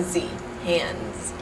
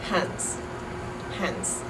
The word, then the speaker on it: hands: before the S so in a word like hands hands like I have two hands we have the voiced D hand so you turn the S into a z hands so a Dutch person might say hands as H hands h with a T at the end almost like a TS I just discovered a